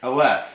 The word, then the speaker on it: Aleph: I don't know if I'm pronouncing it. Aleph? Aleph, yeah, that's right.